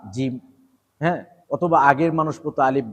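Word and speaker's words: ج: একটু নরম সা সা তারপর হচ্ছে জিব এটা একটু শক্ত জিব জিব জিব জিব দাত দুইটা একখানে লাগে জিহ্বাটা উপরে মাড়ির সাথে লাগে শক্ত করে ধরে জিব জিম জিম জিম জিম তারপর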